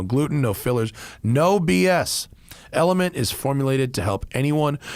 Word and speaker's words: LMNT: slash tire all right it's element spelled lmnt pronounced element man this stuff is